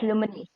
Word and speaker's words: Lumenasia: Yes, it's Lumenasia. Go ahead. Can you hear me now? Hi, Shramana. Yes, how are you doing? Good. Go ahead. Okay, so Lumenasia, let me just begin.